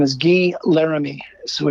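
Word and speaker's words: Laramee: His name is Guy Laramie. So it's G-U-Y, spelled like Guy Laramie, L-A-R-A-M-E-E.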